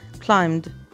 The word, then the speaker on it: climbed: وقلنا قبل كده ان البي سايلنت في يتسلق، فتبقى climbed climbed studied.